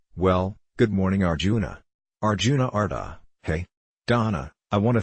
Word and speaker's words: Ardagh: Arjuna, Ardagh like Ardagh, but softer, with no H, so Ardagh.